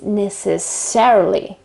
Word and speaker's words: necessarily: um shifted in this case and the right pronunciation is necessarily necessarily so necessary necessarily depending on uh the